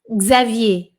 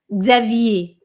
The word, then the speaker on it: Xavier: É Xavier, Xavier. Mas esse X tem que ser bem rapidinho, tá?